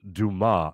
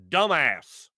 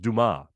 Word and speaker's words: Dumas: It's pronounced Dumas, or Dumas. It also reminds me of Shawshank Redemption, when they're going through books in the library, and the one guy goes, by Alexander Dumbass.